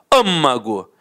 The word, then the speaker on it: âmago: terminada em L acentuada a palavra amago âmago é uma proparoxítona e a pronúncia é fechada vejam bem então por isso tem um acento circunflexo eu te amo é